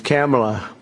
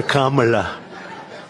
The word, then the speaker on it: Kamala: It's Cam, right? Cam, as opposed to Calm.